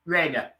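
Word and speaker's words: Rayner: How do you pronounce it? Rainer.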